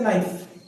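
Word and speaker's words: knife: जैसे नाइफ, सबने सुना होगा नाइफ यानी चाकू होता है, लेकिन जब स्पेलिंग की बात करें तो वो स्टार्ट होगा के से। अब आपने नाइफ बोला, उसमें जो है के कहां से आ गया, ये सबसे बड़ा क्वेश्चन है।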